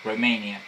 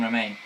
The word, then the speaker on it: Romaine: to join forces with Queen Romania. If I pronounce that right, Romania, whatever. No, Romaine. Yeah, Queen Romaine.